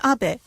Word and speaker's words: Abe: over to the White House my name is Abbot apart in the United States some people mistakenly pronounce my name is Abe but that is not bad because even in